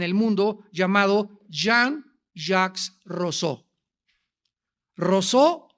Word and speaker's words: Rousseau: Rousseau o Rousseau, como lo quieran pronunciar en francés.